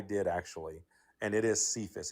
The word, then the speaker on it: Cephas: Cephas is not a like a Hebrew name. That's a Greek name, and C is pronounced as a hard C back then.